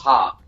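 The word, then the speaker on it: ห้า: last because the the number five is pronounced pronounced ha so it goes jet back guys this is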